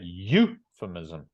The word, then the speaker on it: euphemism: the first syllable so that indicates that the first syllable is stressed so we say euphemism all right and you